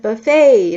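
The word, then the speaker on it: buffet: Buff begin howes bu 우리말로라고 발음하죠 인데 영어에서는 bufe 아고 발음하시면 돼요 얼마나 일찍 일어나야 해 How early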